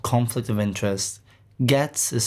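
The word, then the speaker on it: Ghetts: actually um which is called conflict of interest gets is spelled g-h-e-w-t-s and that's definitely an album you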